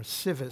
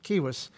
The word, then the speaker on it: civis: civilization which comes from a latin word kiwis or sivis c-i-v-i-s but they pronounced it kiwis uh if you said